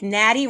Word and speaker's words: Natty: I think it's genius, but like Natty rhymes with daddy.